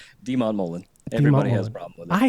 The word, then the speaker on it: deMontmollin: Demon Mullen. Everybody has problem. I hate mispronouncing people's names.